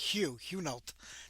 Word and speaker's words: Hunolt: Everybody thinks it's Hunolt, but it's like Hunolt. That's the proper way to say his last name.